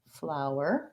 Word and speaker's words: flower: It's the ow vowel plus our, flower.